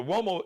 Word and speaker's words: Uomo: Check him out and the Mario Uomo collection on Instagram and the Fly Ball collection. So Mario Uomo. So the Uomo is got the what? Like the W-O-W-O-Y sound, but it's actually an Italian surname, Uomo.